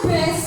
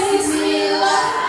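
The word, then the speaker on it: بسم الله: Teman-teman, kok jadinya bes ya? Kan harusnya apa? Harusnya bacanya apa? Bes apa bis? Bis gimana sih? Bes. Masa bes ya teman-teman? Ulangi yuk, bis ya, bukan bes yuk.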